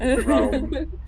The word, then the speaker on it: Raum: He will not be not be bothered by people mispronouncing it as Rom, though he hears it all the time. Round. Yep. Say it like a cat, you never fail. Yep. Raum.